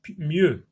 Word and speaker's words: mieux: M avec ye, plus le X qui ne se prononce pas, ça se prononce donc mieux.